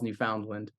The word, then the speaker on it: Newfoundland: everybody in the book calls Newfoundland, because I thought that was how Ohioans would end up, pronouncing Newfoundland.